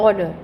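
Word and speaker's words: honor: Cactus, ऑनर, एच इज सिर्फ ओ R word का यूज़ हो रहा है, तो एच इज साइलेंट, तो ऑनर.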